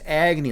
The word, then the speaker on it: Agy: Agy, like like the king of the fire gods. empowered by Taki whose supreme wisdom burns all delusion except I pronounce my name Agy and he pronounces his name Agny.